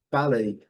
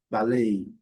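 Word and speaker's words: ballet: E um detalhe, no inglês britânico, a sílaba forte é primeiro. No inglês americano, a sílaba forte é segundo e tal. Sem delondas, palei. E no inglês americano, balei. Palei balei. Então, se você estiver em Londres, balei. Se tiver em Nova York, balei.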